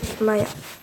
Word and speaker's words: Maja: Donc je m'appelle Maya. M-A-J-A. Ça s'écrit Maja, mais ça se dit Maya.